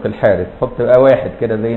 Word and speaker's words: الحارث: سال الحارث ابن كلده هو يكتبوه الحرث لكن ينطق الحارث حط بقى واحد كده